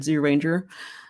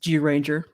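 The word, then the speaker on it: Zyuranger: it going and he's correcting my pronunciation on zero ranger uh my apologies just georanger uh i completely screw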